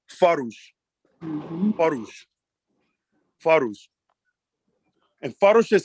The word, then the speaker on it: farush: This word is pronounced farush.